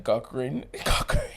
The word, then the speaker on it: Cochran: remember Johnny Cochran Johnny cockran the man name Coan it's spelled cockran but a cockran it's spelled Co c o c h r a n remember with last name